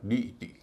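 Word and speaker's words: deity: इसको डी टी नहीं कहेंगे कि डी ई आई टी वाई है। इ आई का उच्चारण बड़ी ई हो रहा है। डी टी कह रहे हैं। ऐसा नहीं इसका उच्चारण होगा डी ई टी।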